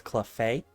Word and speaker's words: Cleffa: I've always said, like, Cleffa. Others have told me it's Clefay, which Clefay does make sense because Fae.